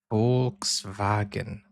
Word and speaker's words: Volkswagen: So W is a V and a V is a foul. Okay. Because the V in German sounds like a F and the W sounds like a V, right? Volkswagen. I would say it that way.